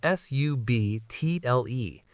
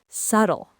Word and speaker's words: subtle: Subtle. Subtle. It rhymes perfectly with the word shuttle, like a space shuttle.